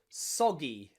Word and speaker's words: soggy: But when you see GGY, then we change the pronunciation. Usually, this time it's that G sound again, like in eggy or doggy or soggy.